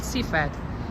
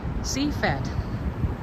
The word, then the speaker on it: Sifat: It's called Sifat. Sifat. S-I-F-A-T. Sifat. Sifat. But I'm not fat. It's how it's pronounced.